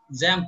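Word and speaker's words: XAMPP: হ্যাঁ জ্যাম্প spelling জ্যাম্প এখন spelling জানতে চাচ্ছিলেন? হ্যাঁ স্যার। জ্যাম্প, যে এটা এক্স দেওয়া আছে কিন্তু উচ্চারণ হবে জ্যাম্প।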